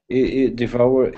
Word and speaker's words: devour: know this word devour devour is is like desire um devour I think